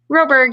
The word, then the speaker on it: Roberg: Roberg, yeah.